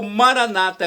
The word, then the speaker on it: Maranata: na última sílaba ou Maranata com a tônica na penúltima sílaba como dizem nossos irmãos separados os evangélicos ou protestantes não importa a